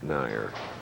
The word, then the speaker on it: Nair: All right, marking with a spare, and now you got to look at the 5'10", 165-pound, 22-year-old Andrew Nair. That's the way they pronounce it.